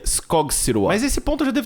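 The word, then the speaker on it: Skogsrå: Quando alcançamos a nossa irmã, vemos ela sumindo na neblina e uma monstra chamada Skogsra. Pesquisando um pouquinho, eu descobri que o nome dela se pronuncia Skogsua.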